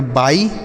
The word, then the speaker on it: buy: तो BUY इसे हम पढ़ेंगे बाई, BUY बाई। और BY इसे भी हम बाई पढ़ेंगे।